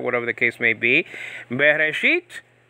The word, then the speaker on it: Bereshit: Bereshit, Be means in, okay, and then Reshit, okay, with an R, Reshit with a T also, and there's other pronunciations, means beginning. So Bereshit means in beginning.